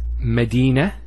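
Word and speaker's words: مدينة: I actually pronounced the ta marbuta as a ha. Medina, Khadija. Now if I stop on the ta marbuta, it's actually pronounced as a ha in both cases.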